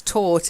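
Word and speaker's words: taut: to tighten something and it's taught it means it's tight okay try it Todd yes just like the past of to teach okay then remonstrance to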